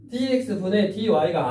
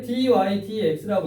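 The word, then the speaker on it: dy/dx: 근데 마치 이렇게 쓰면 좋은 점이 뭐라 그랬냐면 원래 기호는 dx분의 dy가 아니라 그랬지. 원래 dy dx라고 읽어야 되는 기호인데 얘는 마치 분수처럼 생각해도 되더라.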